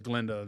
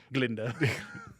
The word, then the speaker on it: Glinda: I preferred her performance as Glenda than than alphaba the g is silent Glinda Glinda the uh so uh